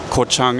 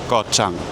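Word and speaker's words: Ko Chang: as Huah Hin Paya and uh I see Kochang is also here. Actually it's not pronounced Kochang. It's pronounced G Chang. Gotchang Elephant Island.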